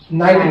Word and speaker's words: knight: और उसके बाद से ये घोड़ा नाइट, हाँ इसको हॉर्स नहीं बोलेंगे, नाइट बोलेंगे, नाइट। के से स्पेलिंग होता है KNIGHT।